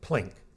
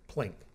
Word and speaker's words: PLINK: data uses really is plink not feel like it's one syllable plink the fam file is